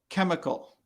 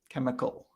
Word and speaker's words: chemical: this in this case chemical right so the h the h is silent or it doesn't make the ch sound that you might expect it's more like a k sound you can look at